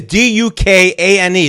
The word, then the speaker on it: Duquesne: That's not Duquesne is Dukane. This is Duquesne. It's French or something.